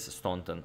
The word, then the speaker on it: Staunton: Yeah, it is Staunton, or even with a hard R, as some said, Staunton.